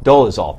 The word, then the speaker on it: Dolezal: In a statement today, Rachel Dolezal, how do we pronounce it officially? Dolezal, thank you.